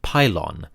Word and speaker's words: pylon: The Greek word for gate or gateway is pulle or pulon. In the Egyptian context, we pronounce it pylon and it refers to the monumental gateways of the Egyptian temples.